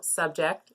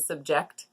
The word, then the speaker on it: subject: would be with subject so subject is a noun and subject is the verb and the last one